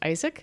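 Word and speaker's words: ISAIC: an innovation Center uh pronounced Isaac which is a new initiative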